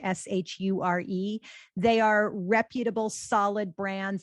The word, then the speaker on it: Shure: And anything you're buying from Audio Technica, from Rode, or from Shure, which is spelled with an H, Shure, they are reputable, solid brands, and pretty much everything they sell you is going to be of good quality.